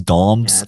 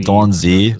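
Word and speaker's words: Domz: Hey, letting you know for future reference, my name is Dom's, not Don Z.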